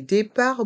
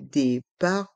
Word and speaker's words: départs: lieux bon lieu les départs bon lieu les départs bon lieu les départs grandes lignes les départs grandes lignes encore une fois les lettres T et S sont muettes dans le mot départ dans le mot grande